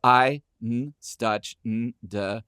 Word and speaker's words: Einstürzende: And then to watch him break it down, I had to put it phonetically up here so I could do it. But it's EINSTÜRZENDE Neubauten.